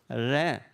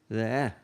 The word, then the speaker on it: רְאֵה: And so you would pronounce this as one syllable, re. Now, you could slightly hear that E sound, but it's not re, it's re.